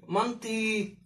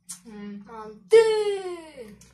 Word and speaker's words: манты: Нам написали, что ударение надо делать на «ы». Манты. Манты.